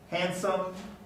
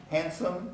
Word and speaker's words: handsome: grandmother with the pilot handsome handsome the d doesn't get pronounced castle you know the